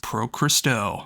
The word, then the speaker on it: Pro Cristo: with Pro Cristo and if you don't know how to pronounce that when you look at the name it is the very first syllables you hear on the album it says Pro Cristo anyways this is an